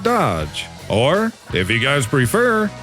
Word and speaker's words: DOGE: on a past show, yes, I know they pronounce it Doge. However, I don't speak Latin. I speak redneck and I'm going to pronounce it Dodge.